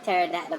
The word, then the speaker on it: pterodactyl: out the retail store I can't do here pterodactyl gone to the bathroom makes us the P is silent sometimes they go over people's ever so